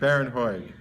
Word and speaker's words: Bharon Hoag: Bharon Hoag.